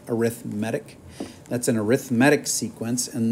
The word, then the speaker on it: arithmetic: kind is called arithmetic it's spelled like arithmetic but you say it arithmetic that's an arithmetic sequence